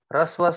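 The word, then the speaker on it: ह्रस्व: Risva, that ha is not pronounced. Rasva. It is ha and r. So when I say rasva, so ha is half. Rasva. Ha, r, and a. It becomes r. Rasva.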